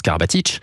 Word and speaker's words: Karabatic: K à Nikola et d'où le Karabatic qui se prononce Karabatic.